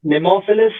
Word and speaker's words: Nemophilis: on about it but we'd like it to be called nemophilus I think pronunciation I believe it's nemophilus I don't know yes and there was